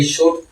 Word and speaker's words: should: इसी तरह SHOULD शुड, L किसी वक्त में बोला जाता था। इसी तरह नाइफ छुरी, KNIFE इसकी प्रोनाउंसिएशन क्या होती थी, कनीफ।